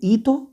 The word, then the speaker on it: hito: Nosotros tenemos el hito histórico, ¿sí? Hito con H muda, para los que están anotando, hito histórico, ¿sí?